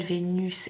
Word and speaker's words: Vénus: Donc au niveau visuel, Vénus est venue, ça se correspond, mais vous entendez bien que à la fin de Vénus, on prononce bien us, et par contre, le S est muet dans venu.